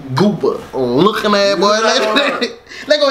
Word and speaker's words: GOOBA: Like, you gotta say it like that. GOOBA.